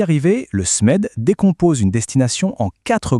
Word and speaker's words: SMED: On prononce SMED, c'est l'acronyme de système de mesure pour l'excellence des destinations.